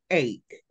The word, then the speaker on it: ache: Todo lo que termina en ache es dolor. Y se pronuncia ache. Example, earache. Con K.